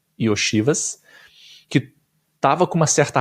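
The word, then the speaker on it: Iosivas: O Andrei Y oiv Esse é o jeito certo de falar o nome dele Y oiv que tava com uma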